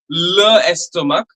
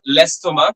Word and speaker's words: l'estomac: we are not, and nor we are pronouncing it as le estomac. We will be pronouncing it as l'estomac, because that le or la, the masculine and the feminine article, will get contracted or elided rather, okay, before a vowel.